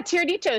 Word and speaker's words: tiradito: Is that how you say it? How do you say it? Tiradito? Yeah, tiradito.